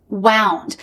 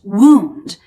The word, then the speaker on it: wound: Wound. Now this first pronunciation is the past tense of what we just learned, wind. I wound the crank. But it's also pronounced wound, and it means an injury.